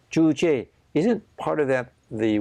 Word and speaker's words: Juche: Was it, how did you pronounce it? Juche. Juche.